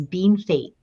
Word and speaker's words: Bienfait: It's called Bienfait, which is bien fait, but it's pronounced by everybody as bean fate.